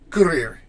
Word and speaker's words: courir: So, Right there, I'm pronouncing the R, but there is no vowel after that R. No vowel sound. And Lear, I am pronouncing the R because I have an E at the end, and so I sound the R.